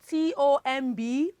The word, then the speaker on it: tomb: The next one, T-O-M-B. Okay, when letter B comes after the letter M, it is tomb.